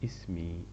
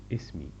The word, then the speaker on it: اسمي: If I want to say my name, we say اسمي, اسمي. If I want to say my name, اسمي. My will be like the letter I in the end, so it will be اسمي.